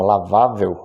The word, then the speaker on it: lavável: Paroxítonas terminadas em L, como é o caso da palavra lavável. Observem que a sílaba tônica é vá, que é a penúltima, e a palavra termina em L, portanto, acentua-se.